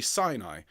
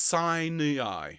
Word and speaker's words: Sinai: Now, we would say Sinai. But when you've got 3 syllables, it's Sinai.